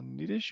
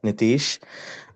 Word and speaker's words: Nitish: Uh Nidish you also have your hand up. I hope I pronounced your name right. I I was purely guessing. Yeah. Hi. Yeah, this is uh Nitish.